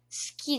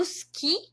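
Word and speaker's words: 好き: Natural seria a gente omitir esse i, esse u. Esse u seria silencioso.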